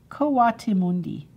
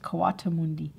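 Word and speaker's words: coatimundi: it's a cota mundi this is a kotamundi kawati mundi that's how it's pronounced kawatamundi if you were a friend of hers you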